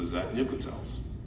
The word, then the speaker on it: zat'nik'tel: So the first one was the Zat guns, the zat'nik'tels.